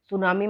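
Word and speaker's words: tsunami: सुनामी में जो ये टी है बेटा ये साइलेंट होता है, क्योंकि अक्सर जापान में, चाइना में उनके वर्ड्स के साथ जो टी है वो लगाया जाता है और ये टी हमेशा साइलेंट होता है, उसका प्रोनाउंसिएशन में यूज नहीं किया जाता है।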